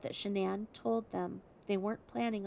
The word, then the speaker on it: Shanann: He said that she pronounced her name Shanann, but her mom pronounced it Shannon.